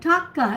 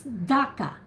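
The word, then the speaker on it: Dhaka: softly no no no we pronounce it with d with d okay David D of David yeah okay so it's Daka yes it's D D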